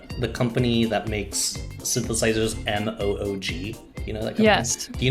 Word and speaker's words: Moog: mo blah blah speaking like how do you pronounce it they're like moog just said it wow that's how you found